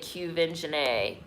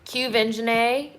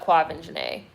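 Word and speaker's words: Quvenzhané: in an interview and she pronounced it cuven janae cuvengenae okay so not quavin janae cuvengenae okay they do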